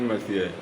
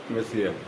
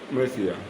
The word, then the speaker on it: Monsieur: English, it may be pronounced as Monsieur, but the correct French pronunciation is Monsieur. Monsieur.